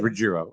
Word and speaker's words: Rogero: last name is it rogerio rogerio riggiero regiro yeah oh okay so it's not like anything fancy like it's spelled right it's just Rogero all right that's cool